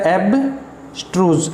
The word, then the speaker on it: abstruse: इसका प्रोनाउंसिएशन क्या दे रखा है? एब्स्ट्रूज, STROOS, एब्स्ट्रूज।